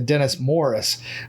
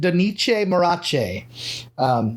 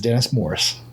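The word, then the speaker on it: Donice Morace: had in the files how to properly pronounce his name, and it's Dennis Morris. But in the ways of not to say his name, it's one that has stuck with me, and I will tell you, you do not pronounce it Donice Marache. It is Dennis Morris, and he is coming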